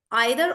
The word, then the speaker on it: either: is R is like so guys either is British pronunciation and either is American both are correct depending on which English you use whether you use British English or American English it'll be either and